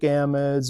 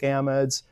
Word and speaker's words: amide: Sometimes you get little differences in pronunciations with these. So if you hear somebody call it an amide, that's the same thing. Amide, amide. It's like tomato and tomato, and there isn't really one right way to pronounce it.